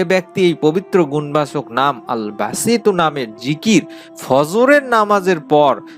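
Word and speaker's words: الباسط: পবিত্র গুণবাচক নামটি হচ্ছে বাংলা উচ্চারণ হচ্ছে আল বাসিতু আমি আবারো বলছি আল বাসিতু এই নামের উচ্চারণটি এটি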